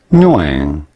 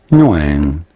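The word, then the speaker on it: Nguyễn: But how do you go about pronouncing it? Nuang. Nuang.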